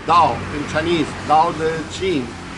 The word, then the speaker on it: Tao: it spelled T a old Tao but is pronounced down in Chinese now the gene which is the